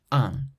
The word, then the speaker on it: un: Un, une, une. So un has an N at the end, but then une has a vowel after the N, so there's no nasal sound.